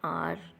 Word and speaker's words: hour: Sarah had returned after an hour. In our H is silent, so हमने an का use second letter o के according किया.